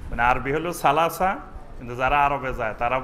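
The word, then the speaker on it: ثلاثة: অঞ্চলের ভাষা আছে তো অনেক অঞ্চলে সা অক্ষর থেকে তারা তা উচ্চারণ করে অর্থাৎ এসনান বলবে না বলবে এতন সালাসা বলবে না বলবে তালাতা সামানিয়া আট হলো সামানিয়া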